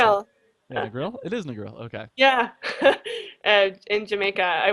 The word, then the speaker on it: Negril: Negril? No, I don't know how to say it. Negril. Yeah, Negril? It is Negril.